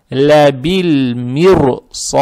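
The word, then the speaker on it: لَبِالْمِرْصَادِ: По идее, ра надо читать мягко, потому что ра стоит сукуном, перед ней стоит касра. Но так как следующая буква после буквы ра стоит твердая, переход после мягкой буквы ра к твердой букве будет тяжелый. Поэтому ра тоже, как бы так сказать, утяжеляется или становится твердой. Поэтому надо здесь читать вот так.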